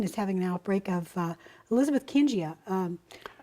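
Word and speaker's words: Elizabethkingia: I've also heard it pronounced Elizabeth Kingia. Well, that's by me, so I don't know what I'm talking about. Yes. You don't often hear this one pronounced because it's a bacterium that was discovered by a female doctor, scientist named Elizabeth King. But generally, when you pronounce these names, an I following a G, it makes it a J sound.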